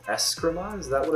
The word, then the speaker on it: escrima: the double bow is probably cooler than uh escrima that's how it's pronounced uh but it's still cool obviously but